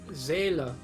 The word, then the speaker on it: Seele: In the dub it's Sele, even though in Deutsch German, right? it's Seele.